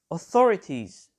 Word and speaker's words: authorities: on the second syllable authorities the stress is on the second syllable as well and finally information the